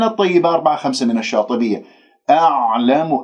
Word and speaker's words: أعلم: أعلم، العين ساكنة، تتجلى صفات في الحروف الساكنة، العين عميقة، والعين من وسط الحلق، تخطأ إذا أنت ما أخرجتها من مخرجها، فممكن أنه تقلقلها من الخطأ الشائع، تقول أعلم أو أعلم، هكذا أنت تكون مرتاح وهي ما وصلت إلى وسط الحلق، بل أنت أخرجتها من أدنى الحلق، فيجب أن تحس بانزعاج في المخرج وأنه كم عم تبلع شيء.